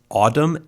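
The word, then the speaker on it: Audm: this app called uh autumn a-u-d-m i'm not actually sure that's how it's pronounced but i think it's a safe bet okay uh and basically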